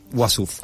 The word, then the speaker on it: Uassouf: Y además tenemos el agrado de tener aquí a una de las directoras, Martina Matskin, la otra es Gabriela Wassouf, no sé si se pronuncia así. Wassouf, ahí está.